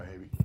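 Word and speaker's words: Haby: Havey. Havey, okay. H-A-B-Y, Havey, like All baby.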